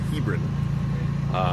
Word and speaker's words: Hebron: We had to talk to somebody from here to learn how to actually say it properly, which is kind of crazy, Hebron.